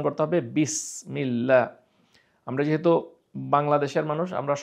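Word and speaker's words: بسم الله: আপনার যদি উচ্চারণ করেন তাহলে হয়ে যাবে বিসমিল্লাহ ভুল হয়ে গেল। যদি সদ দিয়ে করেন বিসমিল্লাহ ভারী হয়ে গেল। তাহলে সেটাও ভুল হয়ে গেল। আপনাকে উচ্চারণ করতে হবে বিসমিল্লাহ।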